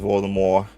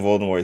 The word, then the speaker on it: Voldemort: The T in Voldemort is silent thanks to it being a corruption of the French phrase that Dumbled mentioned.